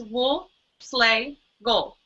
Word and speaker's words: Woleslagle: wool slle and um it's actually easy it's three words wool slay go so remember that that's how you that's how you say it w SEL and I